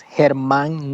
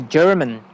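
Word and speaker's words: Germán: my middle name uh Herman I don't go by Herman in the States because uh Americans call me German cuz is spelled with a g e r m a n okay so so it's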